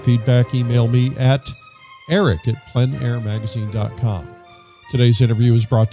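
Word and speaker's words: plein air: open air Outdoors outside the French pronounce it plen air others pronounce it plain air but no matter how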